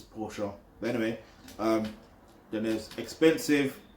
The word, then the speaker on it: Porsche: Those who know how to pronounce it know it's Porsche.